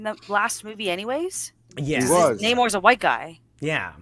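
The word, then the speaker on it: Namor: that you know and his name isn't nemour it's Neymar because it's a Roman backwards and that's how it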